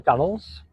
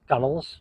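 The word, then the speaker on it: gunwales: here we are on the gunnels pronounced gunnels spelled gun whales G wh a l s gunels though and we mentioned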